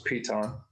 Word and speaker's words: Piton: you consuming i am consuming pita and beer piton beer nice okay so it's piton right okay yeah excellent and they have started